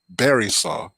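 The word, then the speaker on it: Barysaw: whether you're a Belarusian the Bella Russians pronounced it Barry saw ba ry s aw sorry that should be a V I keep forgetting but the russians call it borislav and I was confused because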